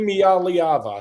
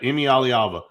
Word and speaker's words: Iamaleava: Iamaleava. Yeah, that's it. Iamaleava.